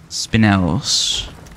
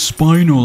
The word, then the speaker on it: spinel: Spinels. No, dude, it's spinal. I heard so-and-so say it. Well, they say it wrong.